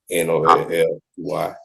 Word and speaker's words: Nolly: Nolly, is it Nolly or Noli? Nolly, N-O-L-L-Y. And I know how it's spelled.